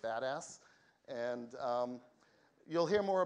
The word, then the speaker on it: BDAS: we're calling uh the Berkeley data analysis system bdas or we pronounce it badass and um you'll hear